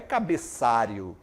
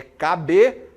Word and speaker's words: cabeçalho: importante Olha só né as pessoas falam cabeçario não não é cabeçario é cabeçalho cabeçalho cabeçalho Professor vou fazer o